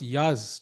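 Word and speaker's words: Yağız: But for Yagas, it's harder. He has to hold. And also interesting, it's pronounced Yaz.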